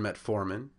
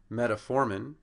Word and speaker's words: metformin: the second syllable in metformin it should be on the second syllable in metoprolol it's on